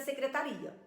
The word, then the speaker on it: secretaria: É o caso de secretária e secretaria. Então, quando ela coloca a palavra secretária, se o candidato retirar o acento, vira secretaria.